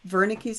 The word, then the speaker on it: Wernicke: we call wernicke's area starts with a w but it's pronounced with a v wernicke's area this is a